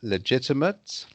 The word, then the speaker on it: legitimate: um when something is legitimate that's right yes legitimate yes so whenever you see uh ate at the end and it's either a noun or an adjective then it's ut okay yes and when